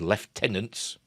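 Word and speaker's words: lieutenants: lead more of his left tenants that's how I use the British pronunciation to head for the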